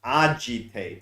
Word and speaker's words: agitate: actually this is pronounced agitate so like with a J but this is a play on a git so so I call